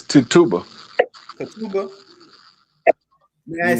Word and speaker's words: Tituba: So I went and pulled up, did the research about Tib Tuba. That's how you say her name. It's Tituba.